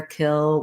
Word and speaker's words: kill: we go to kill we have the it vowel and we don't really need much of a glide there kill we're just lifting from that front into the l excuse me coal we